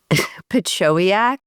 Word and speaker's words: Piechowiak: It's Pchoviaak.